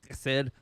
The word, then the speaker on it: chesed: And the love that He used there was a chesed. I never say it right. It's the H and the K at once.